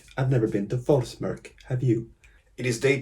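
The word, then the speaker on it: Þórsmörk: Watching Iceland with a view on YouTube, I figured out how to pronounce the weird P. It's Forsmörk. Forsmörk. I've never been to Forsmörk.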